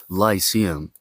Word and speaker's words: Lyceum: his own school, that we call in Greek Lykeion. In English, you pronounce this Lyceum.